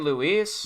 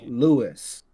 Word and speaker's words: Luis: You can get Luis. But you got You got the trio in GTA 5. You got You are saying the name wrong so badly. Lu. Who? It's Louis. Jesus Christ. It's Louis, man.